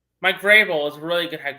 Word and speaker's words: Vrabel: Mike Vrabel. Mike Vreyel is a really good head coach.